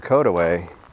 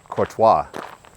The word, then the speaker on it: Courtois: to them for example the caway when I first moved here I was a teenager and I pronounced it ca I was wrong and the huah well